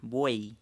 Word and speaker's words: buey: que estos de aquí, hay casos especiales en que la I griega, que le llamamos, a veces funciona como I latina, no la pronunciamos como doble L, la pronunciamos como I. Claro, como en esta palabra, buey, la estamos pronunciando como letra I a la Y.